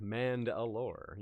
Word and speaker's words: Mandalore: Wheel of Time fans might hear this name as a familiar sound because it rhymes with Rand al'Thor, Mandalore.